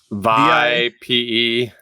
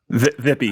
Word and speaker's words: vipe: VIPE. VIPE. VIPE. Vippy. I think it rhymes with pipe.